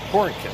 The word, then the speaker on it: Horicon: Here in Horicon, Wisconsin. Horicon, that's how you pronounce it. Horicon, Wisconsin.